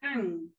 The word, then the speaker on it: Ng: And today I am here with Esther Ang.